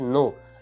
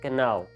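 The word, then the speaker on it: know: भी जाता है कि के एन ओ डब् इ प्रोनाउंस एस नो नॉट कना हमने बताया है बच्चों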